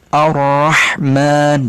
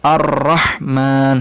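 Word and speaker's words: الرحمن: Di sini ada ra ditasydid. Cara pengucapannya ra-nya hanya 2 huruf ya, betul, 2 huruf sehingga dia harus direm, ditahan.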